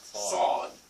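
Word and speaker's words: ص: And the way you pronounce the Sad is just almost like the Sin. But your mouth has to be a little bit fuller. Yes, it's like a ball you're making a sound. Sad. Sad.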